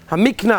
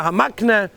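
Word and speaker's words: HaMakneh: The Sfarim, of course, mainly known as the Afla, Hamikna, Hamakna, different ways of pronouncing it.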